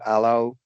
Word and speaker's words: allow: To produce this sound properly, the tip of the tongue barely touches the top teeth to allow air to flow through, or voice pressure for the voiced version.